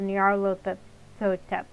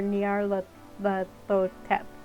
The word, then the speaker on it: Nyarlathotep: There's no official way to pronounce that name since it's a made-up nonsense word, but I prefer Nyarlathotep.